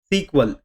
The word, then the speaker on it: SQL: एसक्यूएल एक programming language है एंड उसका प्रोनाउंसिएशन सीक्वल ऐसा भी किया जाता है।